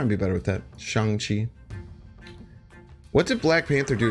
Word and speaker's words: Shang Chi: things out yeah yeah I'm really bad at pronouncing things Chang Chi changchi I'll try and be better with that Shang Chi what did Black Panther do again I took